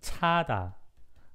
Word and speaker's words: 차다: Okay, you have to hear the difference in pronunciation, like, okay, 자다 and 차다. This one is 자다, not 차다. And this one is 차다, like more aspirated one.